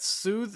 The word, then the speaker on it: soothe: those observatory note stats soothe is a really hard word to say yeah it's a tricky one going from those th's to those d's um it's not a